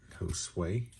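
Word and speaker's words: Josué: Josh in Spanish, if I'm not mistaken. That's how you say it. Josue.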